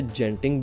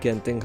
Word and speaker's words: Genting: Video में मैं इसे जेंटिंग बोलूंगा, लेकिन actual pronunciation of this place is गेंटिंग highlands.